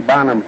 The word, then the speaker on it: Bonham: And he said Tiny Bonham's name is pronounced I own, and I guess I mispronounced it. He says I own as in I own a Gillette razor.